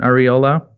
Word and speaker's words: Arriola: they'll reach me or my name it's areola I know it's a little hard to pronounce for most people but you know it